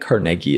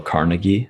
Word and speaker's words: Carnegie: Some people have thought that the pronunciation was Dale Carnegie. I've heard both ways, but I think you are right. It's Carnegie. Or Carnegie, yeah. It's Carnegie for sure.